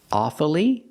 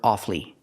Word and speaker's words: awfully: one strange word awfully sometimes you'll hear awfully with three syllables awfully but it's more common to hear awfully with two syllables examples I'm awfully sorry